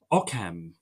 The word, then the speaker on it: OQCAM: I can pronounce o qcam how do you pronounce that okam oam oam oam I love it oam welcome